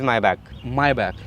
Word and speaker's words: Maybach: दोनों ठीक है, बट the actual pronunciation is Maybach।